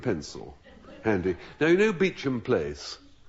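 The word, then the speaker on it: Beauchamp: Now, you know beach and place pronounced beach and spelled Bonaw B a U C H A M P.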